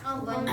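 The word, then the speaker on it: one: अब इसमें देखो वन है तो वो कौन, वॉवेल्स है, स्टार्टिंग तो वॉवेल्स है, लेकिन का प्रोनाउंसिएशन क्या रहा, व आ रहा है, मतलब यहाँ पे ऐसे लिखना, पहले क्या लिखोगे, वन।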